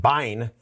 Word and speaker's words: bin: So the first one is bin. And really these are binaries. So perhaps I should pronounce it bine, but that sounds kind of weird.